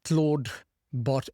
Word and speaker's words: Clawdbot: And the name Claude is spelled with a W. It's like a lobster, not related to Claude Code necessarily, even though they work very well together. And the names sound very similar.